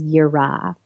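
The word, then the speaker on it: yirah: And that word is yurra. And that's spelled y I r a h.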